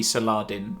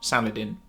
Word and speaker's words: Saladin: where a TV show gets the pronunciation correct and it is should be Saladin rather than Saladin Saladin okay apparently so